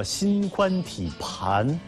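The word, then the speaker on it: 心宽体胖: 字儿啊，叫心宽体盘啊，它不是胖啊，心宽体盘，这是标准读音。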